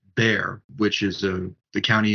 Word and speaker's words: Bexar: used to pronounce as Bexar but realizing that it is bare which is uh the